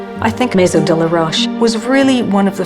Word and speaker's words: de la Roche: Dear Rash rhymes with Fosch. I think MO de la Rash was really one of